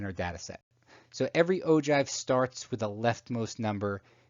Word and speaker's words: ogive: etc the last type of graph is spelled og iv'e it's pronounced ogive and it's used with either cumulative